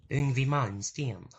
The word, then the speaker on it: Yngwie Malmsteen: How do you pronounce that? Yngwie Malmsteen.